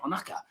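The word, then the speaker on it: Ohnaka: Onaka.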